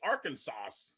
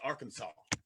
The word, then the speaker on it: Arkansas: It seems like because it's spelled with an S at the end, it seems like you should say Arkansas, right? But you don't. You say Arkansas.